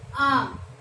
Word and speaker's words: arm: देखो, स्टार्टिंग में कंसोनेंट नहीं है, बट ए आर एम बोलते क्या है हम? आम। आम, आर का प्रोनाउंसिएशन नहीं किया जाता, आम होता है ये।